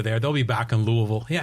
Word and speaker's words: Louisville: He says, I'm guessing that there won't be any PGA events in Louisville for a while.